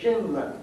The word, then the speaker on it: Schindler: Magazine they would say Shindler rhymes with swindler and we are all